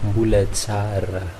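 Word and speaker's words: Mbola tsara: Donc, normalement, on lit ça Mbulatsara. Mbulatsara, ça c'est le mot correct, Mbulatsara.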